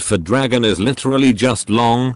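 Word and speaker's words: 龙: dragon is literally just long pronounced exactly like the english word long all by pure coincidence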